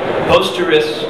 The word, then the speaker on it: Posterous: you create an email um posterus and tumer posterous it's spelled like p o s t e r